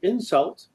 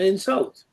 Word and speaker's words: insult: in their discussion and the words are insult and insult and these are words that are different but only in their stress so insult is a verb to insult somebody and the stress is on the second syllable by contrast an insult is a noun and the stress there is on the first Sy and so this